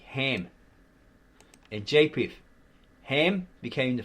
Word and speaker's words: Ham: the ark were Shem, Ham, because this K is silent. It's like the Egyptian K, and they say Chem, to do with the Kemites. Chem, right? Khem. It's actually Ham.